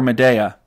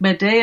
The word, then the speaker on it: Medea: Should I say Medea or Medea? Well, either, like, Medea is more like the Greek pronunciation, but everybody says Medea, so...